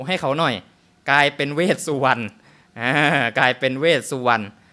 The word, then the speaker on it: เวสสุวรรณ: ท้าว เวสสุวรรณ อ่ะ บาง คน สงสัย คือ อะไร หน้า เห็น